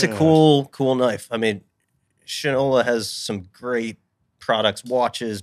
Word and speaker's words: Shinola: I believe it's pronounced Shinola.